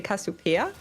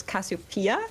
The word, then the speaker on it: Cassiopeia: pronounced in English because in German we say cassopia and in English it's Cassiopeia and it makes me angry